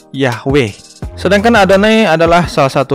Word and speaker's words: Yahweh: huruf yaitu ih WH atau Dibaca juga dengan pelafalan Yahweh sedangkan adane adalah salah satu kata ganti yang